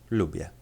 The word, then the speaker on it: lubię: However, when the letter is at the end of a word, it is often pronounced as a normal E. Therefore, the word would be said like this, lubię.